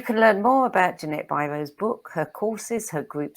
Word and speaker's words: Biro: pronounce it? It is Biro.